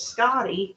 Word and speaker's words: Skadi: And this is like a destruction test, because up next is Scotty, and he wants to hit the back of the test bot. And yeah, that's spelled Skadi.